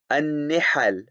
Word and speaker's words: النحل: The correct pronunciation given here is al-faslu fi milali wal-ara'i wan-nihal. An-nihal, an-nihal, an-nihal, an-nihal.